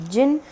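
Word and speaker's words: 人: countries or different nationalities the reading is going to be Jin you will simply use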